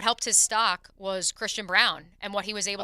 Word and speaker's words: Braun: I understand now we're pronouncing it Brown. It was Braun when he was at Kansas, so I'm doing the in between there.